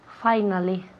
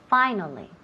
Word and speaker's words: finally: Finally. Okay, so finally. F-I-S-I al principio se pronuncia como si fuera una A-I. Okay, A-I. Finally. No finally. Finally no me digáis finally. Hay que decir finally.